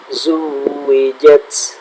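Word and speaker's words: زُوِّجَتْ: Lalu di zuwijat pada huruf waw pun itu ada tanda tasydid juga, maka kita tekan. Maka kita tekan dan kita baca zuwijat, seperti itu.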